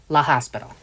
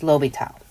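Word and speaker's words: L'Hôpital: is pronounced lobitals not La Hospital okay it's lopital it's a French name we'll get more than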